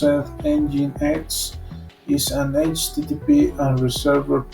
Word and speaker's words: Nginx: Description: Nginx, pronounced Nginx, is an HTTP and reserved proxy server, a mail proxy server, and a generic TCP/UDP proxy server.